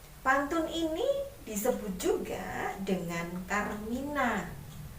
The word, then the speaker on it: karmina: Pantun ini disebut juga dengan Karmina. Ya, Karmina, bukan Karmila loh ya.